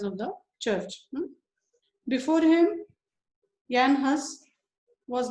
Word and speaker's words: Jan Hus: J is pronounced as year. Jan Hus.